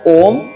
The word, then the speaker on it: ओम: का उच्चारण करते हैं ओम ऐसे मंत्र का उच्चारण करते हैं तो ओम का मतलब क्या है ओम ध्वनि ओम कैसे बनी है अ उ म इन तीन लेटर से ओम बनता है अ का मतलब